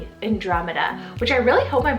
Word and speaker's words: Andromeda: in so many times and it's the name andromeda spell a-n-d-r-o-m-e-d-a andromeda which i really hope i'm pronouncing right i always feel like i get